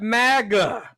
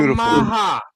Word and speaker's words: maga: It's spelled M A G A. A lot of people call that MAGA, but he did the Puerto Rican flower called the Maha.